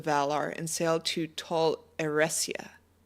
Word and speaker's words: Eressëa: calls of the Valar and sailed to Tol Eressëa. Eressi. Yeah, that's how you pronounce that, Eressi.